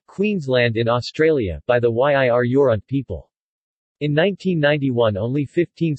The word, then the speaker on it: Yirr-Yorront: Following is the ethnonym, Yir Yoront is written hyphenated as a way of indicating that the syllable following the hyphen is stressed.